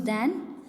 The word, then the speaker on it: then: And where we यूज़ दैन to show some comparison.